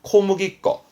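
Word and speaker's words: 小麦粉: 거 그리고 그렇죠 우리말로는 이게 소맥 분이라네 밀가루요 발음은 코무기 거 코무기 거 원래 무기 무기 맥이라는게 보리 보리를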